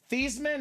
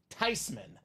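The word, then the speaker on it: Theismann: said no I'm not mad it's actually not pronounced thesman it's not thyman it's actually tyman pronouncing it wrong the whole time is what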